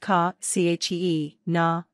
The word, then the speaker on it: Kachina: Kachina, Hopi Kachina, pronounced ka, chee, na, dolls are traditional, hand-carved wooden dolls made by Hopi Indians of the southwestern U.S.